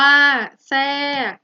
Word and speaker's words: แทรก: โทรม อ่าน ว่า ทรุด โทรม แทรก อ่าน ว่า แทรก ฉะเชิงเทรา อ่าน ว่า ฉะเชิงเทรา ทรวด ทรง อ่าน ว่า